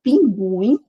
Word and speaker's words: pinguim: Agora na palavra pinguim, o u é pronunciado.